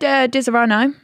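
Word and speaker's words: Disaronno: I don't know, I love a Dizzerano. Dizzerano. Dizzerano. Dizzerano. Dizzerano. It's not got a Z in it.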